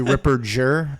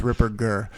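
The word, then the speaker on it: Ripperger: I always you got a lot of people do a soft G they say Ripper jur but it's it's a hard G it's Ripper gir so you got that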